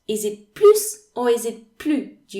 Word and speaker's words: plus: as in snake or it can be pronounced z when you have to make the liaison so in this lesson